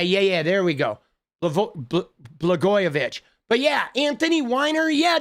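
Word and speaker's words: Blagojevich: Blgoyovich.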